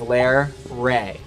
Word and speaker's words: Larray: and tribute to her the way you pronounce it is lair ray and the reason why